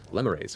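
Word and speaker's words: lemures: from though you're also seeing large groups of limmerayes which is how it's pronounced I've been corrected and I'm so glad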